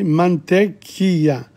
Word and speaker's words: mantequilla: So the double L is not pronounced. See, mantequilla, because this gives the pronunciation as well.